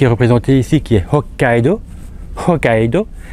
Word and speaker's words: Hokkaido: représentée ici qui est Hokkaido Hokkaido vous entendez bien que je prolonge la prononciation du K hokido parce qu'il y a deux k en fait Hokkaido donc c'est petite sous